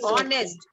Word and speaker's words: honest: Ma'am, you because use- H is not pronounced. Yes, it is silent. H is silent. So Ma'am, it we is say you. honest.